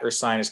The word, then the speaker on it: Ursinus: I am one of the senior assistant directors here at Ursinus College. And you can see sometimes we get a little confusion on how to pronounce the name.